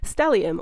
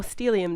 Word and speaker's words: stellium: we're starting off with a stellium or steelium depending on how you say it now if you don't